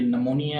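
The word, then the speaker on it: pneumonia: और इसी तरह से ये पार्ट है और ये नमोनिया है, तो इसमें आप देख रहे हैं पी जो है वो प्रोनाउंसिएट नहीं हो रही।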